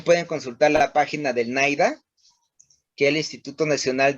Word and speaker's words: NIDA: Y hay mucha documentación en la página de NAIDA. Se escribe NIDA, ¿sí?